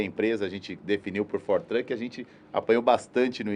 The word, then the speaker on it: 4Truck: né filmando fotografando e corrigindo geral daqui na pronúncia Aliás quando montei a empresa a gente definiu por fortrek a gente apanhou bastante no início até que